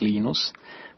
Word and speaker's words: Linus: it's the units when I speak Finnish it's Linus when I became and I really don't care how people pronounce my name but Linux is always Linux